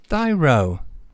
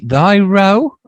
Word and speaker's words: Thy Row: Is it Thy Row or Thy Row? Because Thy Row, yeah. Thy Row. I mean, that does make more sense. I think so.